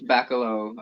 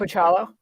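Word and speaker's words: Bachalo: Chris Bacalo on, is that how you say his last name? Pachalo.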